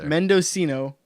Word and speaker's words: Mendocino: end oh and that's how they say it Mendocino what do you how do you what do